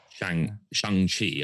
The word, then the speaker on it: Shang-Chi: Good old and Shang-Chi, I found out it's pronounced, is also only going to have a